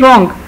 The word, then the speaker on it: wrong: ही न्यू ही वॉज रॉन्ग. अब इसमें न्यू में के साइलेंट है और रॉन्ग में डब्ल्यू साइलेंट है.